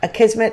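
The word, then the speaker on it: Akismet: Okay, and how do you pronounce the first one again that I butchered so readily? A kismet? A kismet. So it's not okay. It's not what I said.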